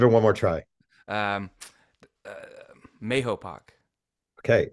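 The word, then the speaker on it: Mahopac: one more try um mayopac okay it actually has two pronunciations there's a debate in the town whether it's Mopac which is what the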